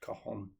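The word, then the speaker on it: cajon: mainly I'd play like a box drum called a Kahan spelled C A J O N but pronounced Kahan.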